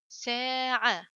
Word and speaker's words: ساعة: Now next one, sin fatha alif sa. So this is alif again, alif mad. عين فتحة ع. ساعة. تا ضمتان تن. ساعة. ساعة.